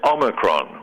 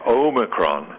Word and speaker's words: omicron: new covet variant it's it's omicron with a short o it's not what tv and radio announces i keep hearing and reporters to keep saying omicron that long o sound